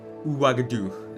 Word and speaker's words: Ouagadougou: The girl from Ouagadougou.